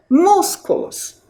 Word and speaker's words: músculos: antepenúltima mus músculos Tá qual é a sílaba mais forte músculos é a sílaba Então